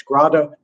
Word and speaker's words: Grada: I also want to recommend, if you don't know him, Chaim Grada. It's spelled Grade, like grade, but it's Grada, who wrote many wonderful books.